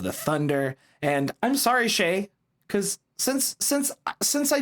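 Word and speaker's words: Shai: week I would say Shay and then I would freak out and say shy but I was right the first time this is why you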